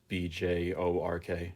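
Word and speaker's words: Björk: It's Bjork.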